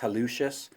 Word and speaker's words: hallucis: extensor Halleck as' longus sometimes you'll hear it pronounced hallucis you know tomato tomahto it